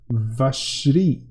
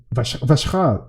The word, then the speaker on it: Vacherin: Oh, you can also say Vacherin, pronounced Vashri. Vashcha, excuse me.